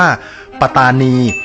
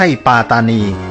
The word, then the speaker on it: ปัตตานี: ลง ความ เห็น ว่า คำ ภาษา อังกฤษ ที่ เขียน ว่า p a t a n i เนี่ย ควร จะ ต้อง ออก เสียง แล้ว ก็ เขียน ใน รูป แบบ ภาษา ไทย หรือ ว่า ปัตตานี ไม่ ใช่ ปาตานี ซึ่ง คำ ว่า ปลา